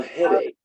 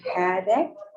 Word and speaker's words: headache: how to pronounce a headache head ache that ch is the k sound and you don't say the e so that's headache backache